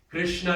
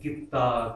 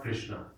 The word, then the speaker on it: Krishna: Krishna is another hard word to pronounce. And some we discussed it yesterday. Krishna is the most widely changed word in all of our scriptures. People say Kitta, Kinna, Kanna, right? So many. South India, Kanna is also there.